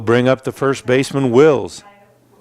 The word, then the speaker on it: Wills: And that will bring up the first baseman, Wills. I thought his name was Willis.